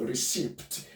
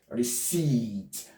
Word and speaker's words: receipt: This P is going to be silent. It is not going to be called receipt. We call it receipt. This will be elongated. Receipt.